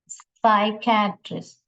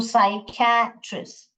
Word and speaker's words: psychiatrist: फिर साइकेट्रिस्ट, साइकेट्रिस्ट, ये P silent है, सो साइकेट्रिस्ट, साइकेट्रिस्ट।